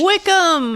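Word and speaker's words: Wycombe: Wickham.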